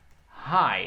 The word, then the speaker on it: high: é high é que apesar de ter o gh eu não sei como se fosse olho ai ai essas duas palavras têm a mesma pronúncia tanto oi ai ponto alto em inglês é é ai como o último de